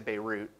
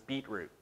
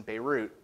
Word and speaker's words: Beirut: moved the family to beirut which the young barnaby mispronounced as beetroot so i don't need